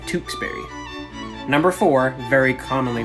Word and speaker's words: Tewksbury: today we've got tewksbury you gotta go a little harder with w on this one and ooh sound tewksberry number four very commonly